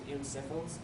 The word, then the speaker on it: eosinophils: It's basically just a swelling or inflammation of the lungs from an increase in eosinophils, is how you say it, and it's a type of white blood cell.